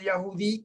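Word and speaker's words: Yehudi: hay diferencia tanto del ya judí como del griego o sea ahora dice bajo este nuevo pacto no hay diferencia entre el yajudí es lo que llaman otros el judío y el griego aquí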